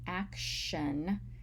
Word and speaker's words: action: react, we see that the T in action sounds like a sh sound and not t, like in act and react.